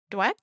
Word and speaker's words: Dweck: And then, okay, now I'm going to say the last name wrong again, because I think I did the first time. Carol Dweck. That's it. Awesome. Carol Dweck.